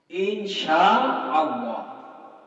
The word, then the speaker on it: ইনশাআল্লাহ: কিছু নাই বন্ধুরা এজন্য আমাদের উচ্চারণ গুলো সঠিক করতে হবে যেরকম সুবহানাল্লাহ আলহামদুলিল্লাহ ইনশাআল্লাহ ইনশাআল্লাহ না ইনশাআল্লাহ ইনশাআল্লাহ ইন শা আল্লাহ ইনশা এক শব্দ আল্লাহ আরেক শব্দ ইনশাআল্লাহ যদি আল্লাহ তৌফিক